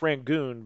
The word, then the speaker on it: Rangoon: Now, see, I know how to pronounce Rangoon because of Crab Rangoon, obviously.